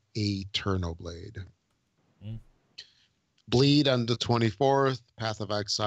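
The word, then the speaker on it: AeternoBlade: That's how I would say. It's A-E-T, so that's Eterno Blade.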